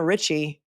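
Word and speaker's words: Ricci: right Christine Richie Richie but they pronounce it Richie r i CCI it was Marshfield thank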